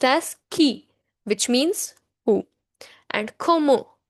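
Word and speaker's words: qui: So they are key q u ii is pronounced as ki which means who and ko ko which means have.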